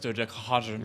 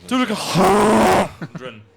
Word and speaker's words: dodecahedron: Now that how I made it in my head, it's a dodecahedron. So it's like it's like panels of pentagons. It's actually pronounced dodecahedron. Yeah. Dodecahedron.